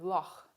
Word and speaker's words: loch: buch it also occurs in scottish english in the well-known word loch as in the loch ness monster and the symbol for this is an x german also has a